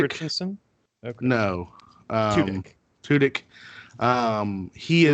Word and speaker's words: Tudyk: Is it Turdick? Richardson? Okay. No. Tudyk.